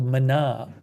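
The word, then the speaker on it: Maná: It's spelled ma and the second a has an accent on it. It's called mana.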